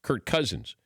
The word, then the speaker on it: Cousins: all blend them together since cousins starts it's a it's a hard C so it's Kirk Cousins it's kind of like I'm adding another K and do I really